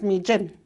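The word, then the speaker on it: miijin: It's mi jin. Well, I said that, but I thought it sounded funny. But it sounds like a J sound.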